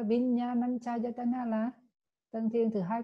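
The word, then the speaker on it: Viññāṇañcāyatana: Không, tên của nó phải đọc là Vinyananchayatana, là tầng thiền thứ hai của vô sắc là thức vô biên xứ.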